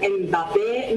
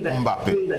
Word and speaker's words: Mbappé: On dit là-bas Mboma, voilà Kylian Mbappé, ça se prononce, on dit là-bas Kylian Mbappé, mais non, il y a un son MB chez nous qui veut dire Mbappé.